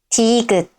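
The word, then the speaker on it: 티읕: At the beginning of a syllable, it sounds somewhere between d and t, but it's more closer to d.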